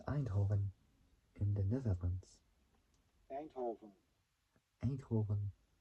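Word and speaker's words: Eindhoven: in the Netherlands aov a Hoven that's how this is pronounced in Dutch well I call it oven like a German kind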